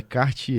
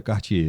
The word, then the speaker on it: Quartier: saber um pouco mais chama Cartier mas é q u a r t i r quartier se escreve mas é Cartier é a pronúncia é Cartier né gente é o